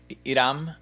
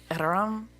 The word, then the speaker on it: Iram: Iram. Iram. There's like a roll in there. It's a trill R, which doesn't exist in English.